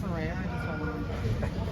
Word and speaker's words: Saraya: Yeah, it's pronounced Saraya.